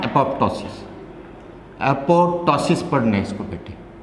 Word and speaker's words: apoptosis: इसमें second P is silent, तो एपोटोटिक या एपोटोसिस पढ़ा जाएगा बेटे।